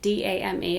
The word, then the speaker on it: Dame: However, there is a brand called Dame, like D-A-M-E, it's probably pronounced like Dame or something.